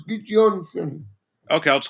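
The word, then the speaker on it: Gudjohnsen: It's Eider Gudjonsson's son, so it's Gudjonsson.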